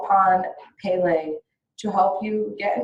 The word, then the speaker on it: Pele: honesty within yourself and I did pronounce it wrong it is called Pele she is the Hawaiian